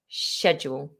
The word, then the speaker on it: schedule: say schedule or schedule if you want to try and remember the purely british english version of the word schedule i recommend ignoring the letter c so just look at s and h together schedule and that will help okay fantastic um okay